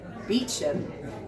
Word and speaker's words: Beecham: There's a bit in the book where Rupert Beecham, so that's pronounced the kind of the actual way.